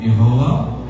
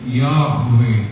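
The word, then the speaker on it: יהוה: അവർ അഡോണായി എന്നൊക്കെ പറയുന്നില്ല, യഹോവ എന്ന് പറയത്തില്ല. അത് എബ്രായ ഭാഷയിലെ ഒരു വാക്കുമല്ല, ധാതുക്കളാണ്. YHW, യാഹ്വേ, യാഹ്, അങ്ങനെയാണ് ഉച്ചാരണം.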